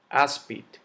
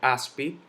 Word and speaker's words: áspid: yo no digo árbol speed yo no digo speed yo digo así como no terminan en ese vocal yo digo áspid golpe de buscar en la as lleva su tilde automóvil